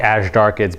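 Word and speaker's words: azhdarchid: as asz darkid or asz darkid it's actually asz darkid but it's mispronounced a lot okay thank you m thank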